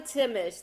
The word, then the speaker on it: Timesch: It is, I know, Timesch. The H is silent.